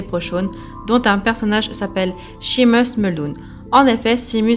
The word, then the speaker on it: Seamus: magique des les pro-cnt dont un personnage s'appelle sheamus mulhouse en effet si mu sept ans après non irlandais ils se prononceront quoi qu'il arrive il y meurt et nancy michaud sheamus comme dans le film irlandais que je vous